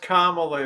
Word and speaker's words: Kamala: It's pronounced Kamala.